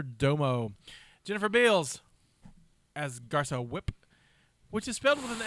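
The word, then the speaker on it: Fwip: jennifer beals as garcia whip which is filled with an f and it's but it's w they pronounce it whip with no f and it drives me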